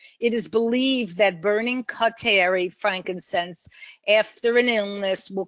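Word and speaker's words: carteri: Boswellia cateri. Now, some people pronounce it cateri, some people pronounce it cartier. It basically depends where you are.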